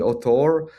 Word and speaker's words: auteur: be some kind of a revival of the auteur.